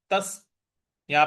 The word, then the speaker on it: तस्याहं: तस्या, तस, यहां पे स पर हमको बल लगाना है। तस्याहं, ह के बाद ह पर जो विसर्ग है उसके आगे न है, तो इसका उच्चारण भी हमें न ही ले आना है। तो तस्याहं।